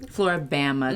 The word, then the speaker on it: Floribama: Yeah, how do you say this word? Floribama, because it's Florida, Alabama.